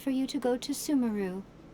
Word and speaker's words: Sumeru: you to go to sumaru that's how you say it yeah on our journey so far I've been saying it's sumero I also see some